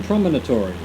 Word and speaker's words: promontory: We're heading to Mountain Promontory. Promontory, I added an extra syllable there that wasn't required.